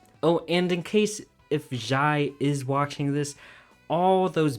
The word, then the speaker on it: Jye: This content creator and fellow friend of mine, Jye, yes pronounced like rye, yes pronounced like toast, yes pronounced like helicopter, yes pronounced like tuna, made an objectively incorrect fast food tier list.